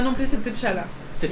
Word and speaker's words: T'Challa: C'est pour ça T'as c'est vu, pas ça veut dire- c'est pas T'Challa non plus, c'est T'Challa.